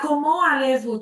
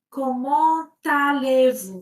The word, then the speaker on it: comment allez-vous: Alors juste quelques mots euh ici tu peux faire la liaison. Tu peux dire tu ne dis pas comment allez-vous, tu dis comment allez-vous ?